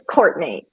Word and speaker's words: Coartney: Now that I could be saying it wrong, but I said Courtney. So did I say that right? It's Courtney, actually.